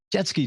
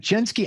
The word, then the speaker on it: Jeske: Is it Jeske? I always want to see Jeske. That's how I program my mind. Am I saying it right? Jeske. It's not quite jet ski, but it's just as fun.